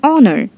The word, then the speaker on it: honor: the other hand an honor the H is silent here we use n because